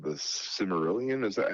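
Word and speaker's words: Silmarillion: And on top of that, they have this thing called the Cimmerillion. Is that how you pronounce it?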